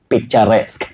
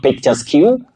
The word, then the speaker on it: picturesque: Just like the word picturesque. Picturesque. Not picturesque. You say picturesque.